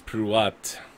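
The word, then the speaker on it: Prew'at: name is karim kareem karim my name is pruat you spell that uh p r e w apostrophe a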